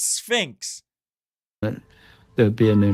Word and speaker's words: Sphinx: And it's not Leon Spinx. It's Sphinx. There would be a new knowledge. Well, I had no idea if this was even, isn't it? Pronounced Sphinx, not Spinx.